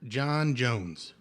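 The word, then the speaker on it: J'onn J'onzz: John Jones. John Jones. But it's spelled like J''ONN. You know, the Martian way. Right. The way it's spelled. The Martian wave. English. Of spelling John Jones.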